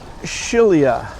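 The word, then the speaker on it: Scilla: Italian things wrong, but according to Google, it's pronounced shilia.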